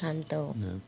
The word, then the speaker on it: Encanto: Am I pronouncing that Ooh, I right? love Yes. Encanto.